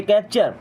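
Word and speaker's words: capture: है ध्यान okay कैप्चर कैप्चर इसे टुडे नहीं पढ़ते कैप्चर।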